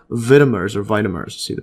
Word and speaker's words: vitamer: Most vitamins are not single molecules, but groups of related molecules called vitamers or vitamers. See the pronunciation here.